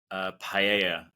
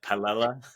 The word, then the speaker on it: paella: I did enjoy the paella recipe, which I think, what was your pronunciation? It was like paella. Oh, I called it paella, which I blame my good friends whose last name is Myella.